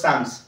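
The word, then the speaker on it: psalms: that means more then one song is called সামস গীত সংহিতা গীত মানে ঘটে কালেকশন গীত সংহিতা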